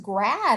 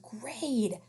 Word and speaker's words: grade: e at the end so a is going to say its name you're not in first grad are you you're not in first grad you're in first grade silent e i know